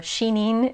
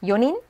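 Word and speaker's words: 四人: now we're more intuitive yonin again this looks like yoji it's not yom nina or shining it's yonin gonin so the rest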